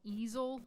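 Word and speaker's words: Easel.ly: This one is called Easel, like easily, but it's spelled like with the artist easel.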